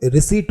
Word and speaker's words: receipt: में रसीद कहते हैं, उसे ही इंग्लिश में हम लोग रिसीट बोलते हैं, जिसकी स्पेलिंग होती है RECEIPT।